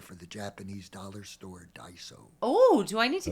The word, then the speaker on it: Daiso: I I can see that we go there for the Japanese dollar store, Daiso.